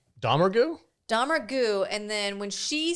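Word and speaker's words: Domergue: they changed the pronunciation of their last name halfway through the movie? Domergu? Domergu, and then when she says it, she says Domergurg or something.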